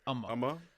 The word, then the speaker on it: Umma: Umma.